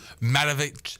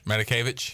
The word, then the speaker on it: Matakevich: Matovich. Yeah. Matovich. Tyler Matovich. I was going to say it right, and then you said Matovich. Matakevich.